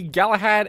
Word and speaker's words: Galahad: ryzen 5 5600 x got the leon lee galahad aio that's how you say it as well